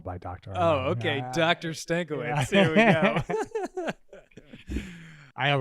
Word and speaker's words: Stankiewicz: Stankiewicz. That's how you're supposed to pronounce it. Yeah. Get out. Really? Yeah, Dr. yeah. Stankiewicz. Polish way, yeah.